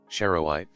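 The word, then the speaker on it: charoite: Is this Cherro? Cherro or Cher Cher Cherro? I don't know how to pronounce this. Hold on. We're going to listen to this. Cherowite. Cherowite. Cherowite.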